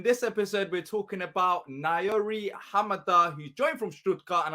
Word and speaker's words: Naouirou Ahamada: It's a tough one, but it's Naouirou, and you got to say his last name pretty fast, Ahamada. So Naouirou Ahamada. Naouirou Ahamada.